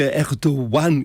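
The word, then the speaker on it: Erdoğan: pour l'Europe Alex bah ça veut dire que erdoan quand on prononce erdo ça c'est Erdogan mais on prononce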